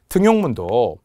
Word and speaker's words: 등용문: 그런데 등용문하고 니은 첨가하지 않고요. 표기와 발음이 일치하죠. 등용문이라고 표기하고 그냥 등용문이라고 발음한 거죠. 예외라서 그렇답니다. 예외는 외워야겠죠.